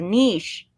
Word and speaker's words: niche: niche it's not a niche it's a niche niche I mean is that kind of like quiche I mean yes it's like cheese quiche like niche shouldn't be